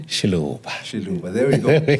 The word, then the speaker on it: Xiluva: Xiluva, there we go.